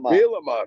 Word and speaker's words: Bielema: Bielema.